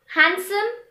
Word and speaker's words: handsome: as wednesday pledge grudge some random words which have the letter d silent in them are handsome and sandwich the letter e now